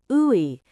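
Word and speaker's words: 의: At the start of a word, like ina, it's ooey. In the middle of a word, it often just sounds like e. When it means of, it's pronounced a.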